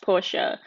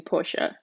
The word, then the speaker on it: Porsche: I did buy a Porsche truck, and it's actually pronounced Porsche, but we always say Porsche for some reason, but it's actually Porsche.